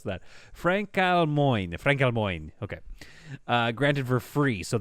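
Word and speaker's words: frankalmoign: I gotta look up how to pronounce that. Francalmoin.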